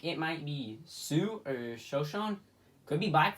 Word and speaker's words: Sioux: I don't recognize sue so um sue we spelled like six flags I'm kidding right now no like 602 Falls is a place like SI o ux the same this site